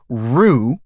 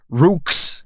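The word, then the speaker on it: roux: you an example uh the french word rue is written r-o-u-x so it's not rooks or rogues it's rue that is a phonological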